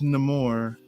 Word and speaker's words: Namor: It's pronounced Namor, as in I don't want to watch no more of this.